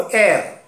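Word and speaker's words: heir: को ये सम हिस्सेदार, को एयर, एयर, not hair.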